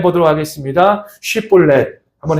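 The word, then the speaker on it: שיבולת: 우리 성도님들 한번 발음해 보도록 하겠습니다. 쉬볼렛 한번 해 보시기 바랍니다.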